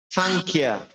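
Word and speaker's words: সংখ্যা: তাহলে কি হবে? সাংখ্যা, সাংখ্যা। খর মধ্যে একটা চাপ দিতে হবে কারণ খটা মহাপ্রাণ।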